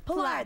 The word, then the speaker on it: Pilar: You were saying it just like Howie Mandel used to say it. Oh, wow. What's the difference? Pilar. Pilar? No, you guys go Pilar. Pilar. Pilar. Pilar. It's Pilar. There you go. Pilar. It's that easy.